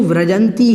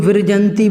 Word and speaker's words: व्रजंति: पर व्रजंति आया है इसको व्रजंति ही बोलना है कोई लोग दूर जयंती बोल देते हैं कभी गुरु जयंती वह देते हैं तो यह गलत हो जाएगा आपका अच्छा आपको उच्चारण